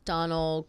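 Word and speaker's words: Domhnall: I always thought it was Dom Gleason. Me too. But people are saying it's Donal Gleason. Donal. Donal like donish which I which does make sense.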